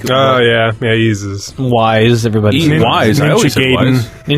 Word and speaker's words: Ys: The worst is when I would go into GameStop asking, do you have the Ease for PSP? It's just What are you talking about? Like YS? Oh, no, that's it. YS.